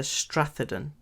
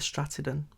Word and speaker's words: Stratheden: in the comments uh the strathadon could be the stratagon but i think it's the strathaden um by the lost